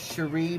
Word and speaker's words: Sheree: percent off your bill it is cherry baby like almost like sherry baby but it's spelt s-h-e-r-e-e baby 10.